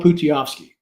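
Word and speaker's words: Pustejovsky: Phil Putiovsky is how you pronounce his name, I believe.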